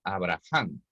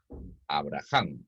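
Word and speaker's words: אברהם: La H en el hebreo se pronuncia como la J nuestra, ¿de acuerdo? Así que cuando encontramos, estaría bien expresado decir Abraham, ¿ya? Porque la H no es muda, en el hebreo tiene un sonido.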